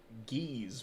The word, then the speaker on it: Geese: It's Geese with a hard G.